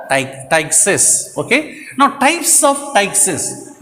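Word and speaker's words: ptyxis: P is a silence. Tyxis. We have to pronounce it as Tyxis.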